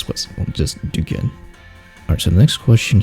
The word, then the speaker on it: Duquesne: So, yeah, my surname is how you pronounce it is Duquesne, or Duquesne, if you want to do it the French way, but Duquesne is fine as well.